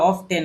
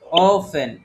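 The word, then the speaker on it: often: হচ্ছে ভুলও হয় আমরা কিন্তু এটাকে কি বলে অফটেন বলি অফটেট যাকে জিজ্ঞেস করল সেই বলব এটা অফটেন মানে শুরুতে যদি আমরা না জানি তাহলে এই এটা কি হবে কেউ বলতে পারবেন ওপেন ইফ ওফেন তাহলে দেখেন এখানে আমাদের কিসের উচ্চারণটা বাদ গেল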